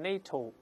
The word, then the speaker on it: NATO: 个单词来读，读成 NATO，就是美国航空总署叫 NASA 一样，这叫 acronym。